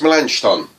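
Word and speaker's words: Melanchthon: Don my lunch Don I know it says Milan oh there should be a CH in there should be a ch-ch-ch malankov on there's pronounced milenge Don and you just have to trust me on that one I don't know how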